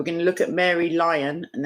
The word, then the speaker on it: Lyon: to look at Mary Lyon and that's how I'm going to pronounce her name even though it looks like Leon but she is in